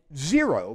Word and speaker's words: xero: staph and strep and zero means dry it's pronounced like it's a Z a Xerox machine it